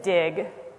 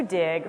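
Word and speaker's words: Digg: How many people have used Dig? A few. So Dig, which is spelled D-I-G-G, just so that it's extra cool,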